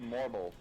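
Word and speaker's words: Morbol: these ones are pronounced Morble.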